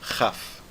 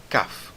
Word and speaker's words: Kaf: Então, o Kaf sem o Dagesh é pronunciado como se fosse um Het. Seria Chaf, Chaf, tá certo? E o Kaf com o Dagesh tira aquela aspiração e vira Kaf, como o C em café, tá certo?